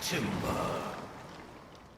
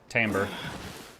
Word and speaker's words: timbre: What a nostalgic timber. Timbre. Pretty sure that's pronounced timbre.